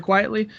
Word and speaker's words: Quitely: I think you pronounce his name, Quitely or Quietly.